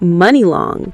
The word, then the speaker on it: Muni Long: She rebrands as Mooney Long, pronounced money long.